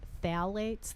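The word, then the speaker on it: phthalates: Phalates, that's a word that's spelled like phth, that crazy looking word.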